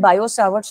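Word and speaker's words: Biot-Savart: उसके बाद we will understand बायो सावर्ट्स लॉ क्या होता है, बायट नहीं होता, टी साइलेंट होता है, बायो सावर्ट्स लॉ कहते हैं।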